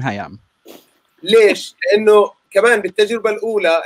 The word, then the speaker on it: Hiam: Even the name Siham rhymes with her name Hiam.